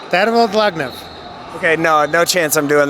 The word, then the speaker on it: Dlagnev: Tervel Dlagnev.